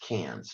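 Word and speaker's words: Cairns: Great Barrier Reef is located and that is cans all right and it is pronounced cans not currency our Asylum and of course we'll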